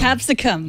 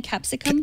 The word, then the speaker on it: Capsicum: journaling app called capisco is that how you pronounce it absolutely capsicum capsicum Australian word for bell pepper yes exactly